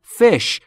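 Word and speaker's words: fish: بیشتر انواع آ از فش ماهی در مورد تلفظ فش دقت بکنید بین ای و ا فش فش یعنی ماهی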